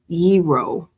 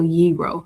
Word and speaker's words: gyro: The food it says yero. So like hero but without the h. So yro.